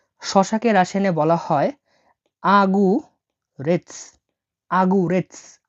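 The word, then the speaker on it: огурец: সবজি হচ্ছে শসা শসাকে রাসায়নে বলা হয় আগুস আগুরেস আগুরেটস মানে শসা আগুরেটস দেখুন এখানে আমি ভেঙে দিচ্ছি এই ওট উচ্চারণ হবে এ হিসেবে এটা জি এটা ইউ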